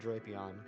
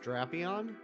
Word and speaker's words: Drapion: Official has a short A on Drapion? No, I don't like that either. I'm with you, Hassan. I've always said Drapion. So what? It's pronounced Drapion?